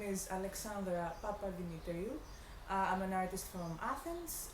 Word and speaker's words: Alexandra Papademetriou: you introduce yourself so i don't say your name wrong these long greek names hello my name is alexandre papadinitario i'm an artist from athens i'm currently living